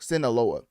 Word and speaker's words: Sinaloa: Yeah, Sola. Uh, well, no, Sinloa. Yeah, that's I I knew I was pronouncing that wrong. Sinaloa.